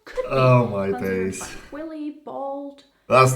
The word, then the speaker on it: Willibald: Just try to pronounce it with an American accent. It's Willibald. Okay, Willibald.